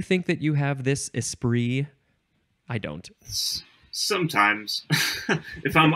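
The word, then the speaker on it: esprit: the next word is ispr uh and it is spelled e s s p r i t because it is French noun from 1573 number one is vivacious cleverness or wit espri and then number two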